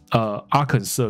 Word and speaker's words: Arkansas: 还有另外一个 Arkansas 州也是不发音，是 Arkansas 不是 Arkansas、啊、不是的。